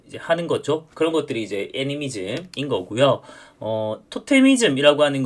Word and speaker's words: 애니미즘: 발음 잘해야 되죠. 애미로 하면 아주 이상해집니다. 애니미즘.